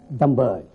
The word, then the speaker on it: Dhambali: And here in Kashmir, we pronounce it as Dhambali.